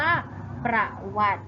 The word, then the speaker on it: ประวัติ: สละ ใช่ ไหม คะ สังเกต ว่า เป็น สละ อะไร คะ ที่ ไม่ อ่าน ออก ที่ ไม่ ออก เสียง แล้ว ก็ คือ สระ อิ ใช่ ไหม ขา สะ อิด จะ อยู่ บน ตอ เต่า เวลา เรา อ่าน เรา จะ ไม่ อ่าน ออก เสียง สระ อิ ใช่ ไหม คะ ดัง นั้น เรา จึง อ่าน คำ มี ว่า ประวัติ นั่น เอง ค่ะ อ่ะ